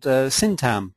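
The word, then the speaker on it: Syntagm: My main interest is in user-centered design, and our company is called Syntam Limited with a silent G, which seemed like a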